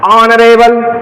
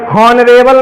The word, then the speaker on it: honourable: तो ऑनर, और ऑनरेबल, hair, जैसे हेयर पढ़े तैसे गलत, क्यों, एच को क्या करना था, साइलेंट। क्या पढ़ोगे, ऑनर और एयर, समझ में आया। ऑनरेबल, हॉनरेबल नहीं है ये, समझ में आई बात।